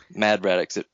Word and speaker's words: Mad Braddox: Mad Braddox. It rhymes with Brad Maddox. That's how you can remember that.